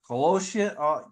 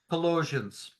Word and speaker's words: Colossians: decided to talk about colosan Colossians I'm saying it wrong Colossians yeah two which is